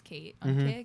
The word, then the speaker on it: Keight: a girl name because my name is kate like your name is mine would be mine would be yeah i spell it different now i would i would either k-e-i-g-h-t oh that's right yeah